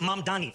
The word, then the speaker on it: Mamdani: And furthermore, the name is Mam Dani. M A M D A N. You can learn how to say it because we got to get it right.